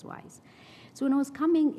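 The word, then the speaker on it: WIIS: call them wise men, because wise is pronounced, Women in International Security in short, is pronounced as wise.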